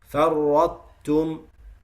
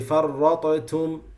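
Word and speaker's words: فرطتم: Same thing with farrattum. You don't say farratatum, you don't say that, because there is no, remember, in the Uthmani Mus'haf, you don't see any sukoon, any jazm here.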